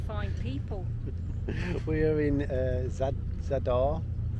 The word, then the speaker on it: Zadar: We are in Zadar, pronounced perfectly, and it's a nice place so far.